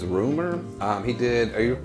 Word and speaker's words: RMR: country about five is it's spelled rmr but his name's rumor um he did are